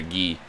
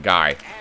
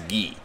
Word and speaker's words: Guy: wasn't paying attention ah I turned over to ghee or guy CU probably not French I don't know in my opinion I hate the name when I hate when people pronounce it guy even if you're not French it's a French